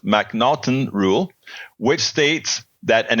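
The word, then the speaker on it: M'Naghten: should be familiar with the MC the mnon pronounced mnon rule which states that an individual suffers from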